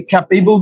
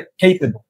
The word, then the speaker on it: capable: Then capable, cap, আমরা এটাকে ক্যাপেবল বললে ভুল হবে, এটা উচ্চারণ হবে capable, capable.